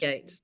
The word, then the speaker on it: Reigate: arts advertising and art direction at, do you pronounce it Reigate School of Arts? Reigate.